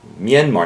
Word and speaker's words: Myanmar: earthquake in Burma or Myanmar Myanmar Myanmar not Myanmar that's what Midwestern people they can't pronounce Myanmar Myanmar or just say Burma